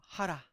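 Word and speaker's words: חרה: 하라. 어, 히브리어 발음이 하랍니다.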